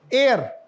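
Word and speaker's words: heir: लेकिन इसमें आपको मैं अगर बताऊं कि एच साइलेंट है तो यू मे be surprised. एयर.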